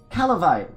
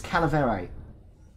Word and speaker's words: calaverite: It was, Calavite. Calaverite. Calaverite. I'm going with that pronunciation. It's Calaverite.